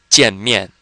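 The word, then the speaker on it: 见面: Both of these are fourth tone, so let's try that. Jian mian, jian mian, jian mian.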